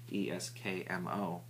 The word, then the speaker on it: Eskmo: If I say it wrong, I'm sure someone's going to correct me, but I believe they're called Eskimo, not Eskimo, like the Alaskan people, but Eskimo, Eskmo.